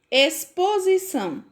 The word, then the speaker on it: exposição: Exposição. Se escreve com X, mas o som é de S.